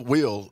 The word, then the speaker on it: Wil: names nowadays, you know, Will. Yeah, W-I-L. Well, you know, I couldn't afford the second L, so I just kept it with one. Hey, I'm with you on that, and it's pronounced the same, you know?